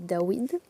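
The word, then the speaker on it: דוד: Nous savons que c'est un W. Nous ne devons pas le prononcer V. Donc le roi Dawid, sa guatria à Dawid, c'est 4 6 4 qui nous donne 14.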